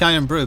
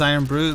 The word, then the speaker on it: Irn-Bru: What is Irn-Bru? Well, brew is spelled BRU, but it's Scotland's national drink.